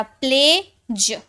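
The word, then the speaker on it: pledge: ई तो डी जी ई ये हो गया प्लेज प्ले ज प्लेज है ना के एन ओ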